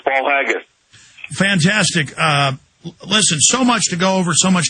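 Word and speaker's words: Paul Haggis: Academy Award uh winner Paul uh hains as powerful and often chilling eye opener hope I'm pronouncing that Paul haggus I think I'm pronouncing that right uh Mr Miller it is it's Paul haggus fantastic uh listen so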